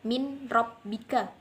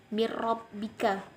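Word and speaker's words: مِن رَبِّكَ: Dan di situ kan ada nun mati, tidak boleh dibaca min robbika, tidak boleh. Jadi cara membacanya yaitu mirrobbika.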